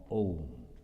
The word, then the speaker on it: Om: And when you are pronouncing the Ma, you are closing the lip without moving your tongue, without beating anything, sound is coming. A, U, Ma, Om.